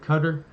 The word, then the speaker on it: Qatar: and Qatar, or Qatar, but you're supposed to pronounce it Qatar, signed a deal, right, to a mutual defense pact, kind of like NATO.